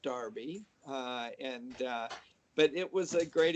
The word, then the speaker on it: Derby: Well, it's spelled Derby, but it's pronounced Darby, but it was a great experience.